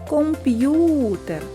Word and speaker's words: комп'ютер: визначимо куди падає наголос покличемо комп'ютер наголос падає на звук у наступне слово сім'я запишемо